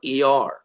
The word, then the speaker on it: Iyar: And this Hebrew month, this is the month of Iyar. And literally in English vernacular, it's spelled I-Y-A-R.